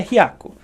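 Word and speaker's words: 百: aprender a falar 100 para falar 100 eu falo Raco aal a pronuncia principal é riaco tá aí se vocês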